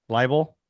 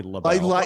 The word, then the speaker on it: libel: Libel? How do you say labelle? Libel, not LaBelle.